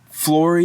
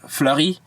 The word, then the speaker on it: Fleury: flory by the way flory is totally like an american butchering of the french last name fleury f-l-e-u-r-y but in english we have a hard time pronouncing the sound so they totally just got rid of the eu and made an o now you can't just